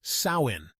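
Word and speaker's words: Samhain: they had a festival called samin pronounced sawin now this wasn't about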